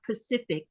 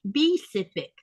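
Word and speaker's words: Pisiffik: That P is a B sound. It's not Pacific. It's B-cific.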